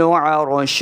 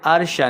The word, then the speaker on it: عرش: وَيَحْمِلُ عَرْشَ، عین کو تلفظ کے ساتھ پڑھنا ہے، عرشہ نہیں کریں گے. اکثر لوگ یہاں پہ کیا غلطی کرتے ہیں؟ عین کے اوپر حمزہ کی آواز لے آتے ہیں یا پھر بہاری آواز ہا کے لے آتے ہیں.